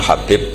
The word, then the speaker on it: Habib: yang nulis Abi Abdurrahman Habib asulami itu di harakatnya kitab itu ada yang nulis hubb Yang benar Oh gigih yang benar itu bacanya habib habib itu asulami itu ikut Marga